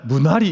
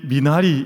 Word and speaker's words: 미나리: 받으셨는데 그 작품의 이름이 미나리 라고 하는 영화였습니다 미국 사람들은 비단 이 발음이 안 돼 가지고 맨날 문화 리 이렇게 하거든요 이게 미나리 인데 1 식물이 2 프리